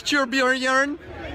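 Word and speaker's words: Torbjörn: Just whatever you do, don't mispronounce Torbjorn's name. Thanks, Torbjorn.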